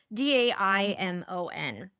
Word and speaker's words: daimon: in the libraries, but you had the daemon, right? So it's Daimon.